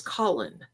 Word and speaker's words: Colin: That is not how you say his name is Colin. Can you please pronounce that correctly?